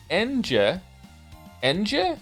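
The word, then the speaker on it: Ange: time all time now Angie favorite character of all time really I'm here to tell you her name is pronounced en Ena feel free to ignore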